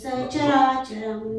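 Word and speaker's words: sacarācaram: Suyate sacharacharam. Do a long oo. Suyate sacharacharam. Suyate sacharacharam. Suyate sacharacharam. Suyate sacharacharam. And no pausing after the sa, because sa is a short syllable. Suyate sacha, not like that.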